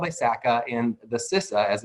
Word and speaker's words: CISA: But in short, they kind of stand for, so it's a group called ISACA, and the CISA, as it's pronounced, is a Certified Information Systems Auditor.